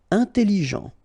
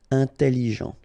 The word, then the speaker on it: intelligent: Intelligent. Final T not pronounced, so G-E-N, Jean, okay? Intelligent. Double L, it opens the pronunciation of your E, so it's E. Intelligent.